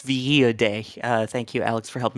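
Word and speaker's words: Villadei: And apparently it's Villa Day.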